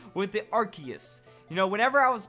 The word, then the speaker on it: Arceus: you're wrong because I stick to the true pronunciation of Arceus I'd stick to the first pronunciation of Arceus